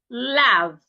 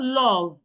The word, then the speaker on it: love: So it is not love, it is love. I love you. La, not L. You see that? My mouth didn't is not rounded. And I didn't open my mouth wide. I didn't say love. No, just open your mouth a bit.